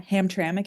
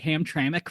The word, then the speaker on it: Hamtramck: Yeah, Hamtramck if you're in the Detroit metro area. Who knew that's how it's pronounced? Yes. Yes. I I think I called it Hamtramck for a while. Hamtramac, I don't know.